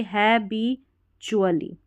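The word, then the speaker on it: habitually: यह वाला उच्चारण है अगर डी की जगह टी आ जाए तो यहां पर देखिए हैबीचुअली हैबचुअली ऐसे तो जब भी आपको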